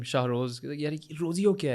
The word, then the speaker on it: Rozeo: There was nothing wrong with the Z. It was the A. It's a Rozeo.